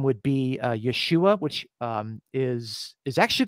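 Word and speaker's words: ישוע: the same name um Yeshua that's that's how you would pronounce it in Hebrew uh so Jesus name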